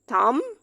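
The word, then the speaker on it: thumb: टॉम, थम, plumber.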